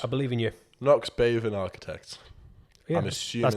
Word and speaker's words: Bhavan: Knox, Bhavan Architects. Yeah, I'm assuming that's pretty much how I would have tried to pronounce that it. H is silent.